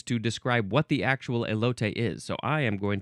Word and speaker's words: elote: I would have said elote because that's how it's spelled in English. That's how it would be pronounced in English. But this is a Spanish word, elote.